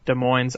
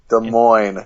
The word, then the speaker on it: Des Moines: data center in West Des Moines, Iowa. As a result, Microsoft will receive $20 million. Des Moines. You don't pronounce the S. Fuck you, I don't know geography. Anyway, Microsoft Des Moines.